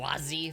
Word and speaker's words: Wazy: It's pronounced Wazy? Fuck that. Wazzy?